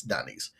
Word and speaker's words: Denise: it, we now see Denise. And that is how her name is pronounced. Almost sounds like it's a part of a Key and Peele sketch or whatever. That it's not Denise? No, it's Denise.